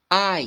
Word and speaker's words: I: se pronuncia aquela palavra então eu em inglês se escreve com apenas um II e esse hino Na verdade se fala ai bom então eu em